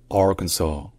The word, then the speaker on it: Arkansas: premier s est com dansas alors qu'il est prononcé comme dans AR mais enfin trè et dernière différence c'est que